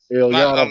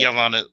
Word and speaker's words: Iyanla: Man, yeah, that was Ilyana Van Zant shit. Ilvana. I can't pronounce her Iyanla goddamn. Van Zant. Iyanla Van Zant.